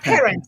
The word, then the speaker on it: Perrin: How are you, Perrin? I pronounce it in French. Parent.